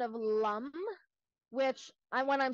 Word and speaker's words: Lam: lamb it's lump and we emphasize the consonant sound because that's where all the energy is so you want to